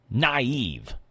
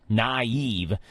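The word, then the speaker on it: naïve: In European languages, Tyler, the 2 dots indicate that 2 adjacent vowels are separate syllables. Now, it's most common in the word naive, which is actually N-A-I-V-E, and there's 2 dots.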